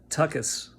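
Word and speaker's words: tuchus: Um, it's pronounced tuckus, tuckus, tuckus.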